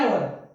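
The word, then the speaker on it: hour: इसका जो प्रोनाउंसिएशन है, इसका जो प्रोनाउंसिएशन है, उसका जो फर्स्ट लेटर है, ठीक है, जब उसका जो प्रोनाउंसिएशन है उसमें शुरुआत में क्या रहा, वोवल का साउंड, आवर, ठीक है ना, आवर, ऐसे स्टार्टिंग हो रही है, इसलिए यहां पर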